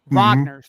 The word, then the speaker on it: Wagner: Yeah, the Yeah, the Wagner brothers are pretty good, too. Vagner, sorry. Vagner. I always say it wrong.